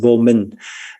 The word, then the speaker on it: vô minh: In Vietnamese, we use that same phrase, but we pronounce it vô minh.